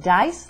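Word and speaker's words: Deis: Like my name is Dice, D-E-I-S, but it's pronounced Dice, like D-I-C-E.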